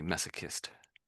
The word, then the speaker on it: masochist: So we say massochist.